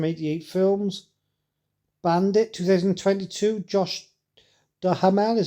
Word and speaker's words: Duhamel: Bandit 2022, Josh Duhamel is how you say his name, Mel Gibson and Elijah Cuthbert.